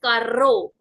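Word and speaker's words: carro: language which is why I have used the pronunciation as Caro Caro because there is Double R in the word coming to the third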